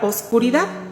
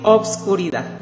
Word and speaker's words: oscuridad: significado de la palabra oscuridad en el diccionario de la Real Academia vemos que por supuesto que también se puede decir obscuridad las dos palabras Las dos pronunciaciones son válidas para los que lo